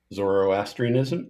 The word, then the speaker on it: Zoroastrianism: So not sure on the pronunciation exactly here, but we said Zoroastrian. Yeah, for 20 points, we think this is Zoroastrianism. So Zoroastrianism is the correct answer.